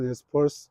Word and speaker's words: Nez Perce: 어이 인디안 부족은 어 네스퍼스라고 발음이 됩니다. 네스퍼스.